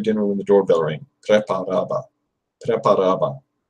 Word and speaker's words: Preparaba: Preparaba. Preparaba. That's another tricky one because it's similar to the English word prepare, but you can't pronounce it like that.